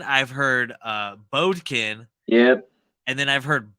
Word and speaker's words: Bodkin: of the way yeah it's just it's just Bodkin b-o-d-k-i-n um yeah Bodkin I've heard bobkin I've heard uh Bodkin yep and then I've heard Boykin which I